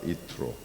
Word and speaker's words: Yitro: 이트로 이트로 어 이트로라고 이렇게 발음을 하면 이게 누군지 잘 모르실 텐데 우리가 보통 모세의 장인 이드로를 잘 아시죠? 그래서 이드로를 어 이야기하는 것입니다.